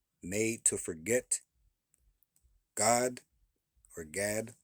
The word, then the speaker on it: Gad: You still say that as Gad, or I think it may even be pronounced God.